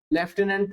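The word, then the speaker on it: lieutenant: की स्पेलिंग याद रखले लेफ्टिनेंट वैसे तो हम प्रोनंसिएशन में लेफ्टनंट बोलते हैं बट रियल में होता है लूटने तो लटने को लूनेट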